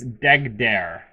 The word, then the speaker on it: Deggdeer: Apparently, it's Deggdeer, like DEG, and then the second part is pronounced dare, like I dare you.